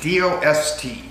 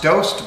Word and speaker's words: Dost: Hello, my name is Dost, D-O-S-T. Actually pronounced Dost, but I prefer the pronunciation of Dost.